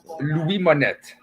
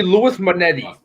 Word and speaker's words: Louis Monette: How do you pronounce it, Frenchie? Yeah, pronounce it. Louis Monette. Louis Monette. Okay, word. Yeah. Okay. Everyone calls me Louis Monetti.